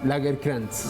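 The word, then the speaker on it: Lagercrantz: ¿Cómo se pronuncia? Lagerkrantz. Gracias. David Lagerkrantz, lo conseguimos en Planeta de Libros, en cualquier librería.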